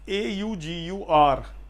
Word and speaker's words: augur: हाउ to pronounce, AUGUR।